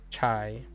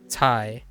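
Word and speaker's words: 菜: However, in Fujianese, it's actually this. Is chai. Chai. So it is actually CA to the 4. So chai is Fujianese. So you do pronounce it this way. Chai. Not Thai. No Thai, but chai.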